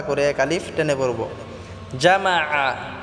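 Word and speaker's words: جمع: এক আলিফ টেনে পড়বো জামা এখানে আইন টাকে আমরা গলায় চাপ দিয়ে উচ্চারণ করব আল্লাজি জামা বললে হবে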